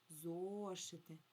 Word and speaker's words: зошити: І ще ми з вами обов'язково поставимо наголос. Зошити. Зошити. Сильніше я вимовляю голосний о. зошити.